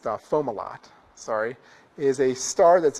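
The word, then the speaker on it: Fomalhaut: around planets so uh FAL how if no actually it's pronounced fomal lot sorry is a star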